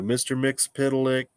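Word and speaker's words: Mxyzptlk: I'm gonna say this all slow and funny Mickey mixopitalic so Mr mix pitolic uh we're assuming the sun yeah um is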